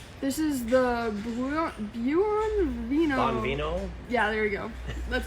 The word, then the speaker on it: Buon Vino: Bonvino, Yeah, there we go. That's a better pronunciation.